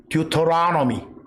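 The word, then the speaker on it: Deuteronomy: 듀토라노미. 제가 저음을 적어놨어요. 듀를 두라고 발음해도 돼. 또 혀 굴리기 좋아하는 사람들은 터를 넣으라고 해도 돼.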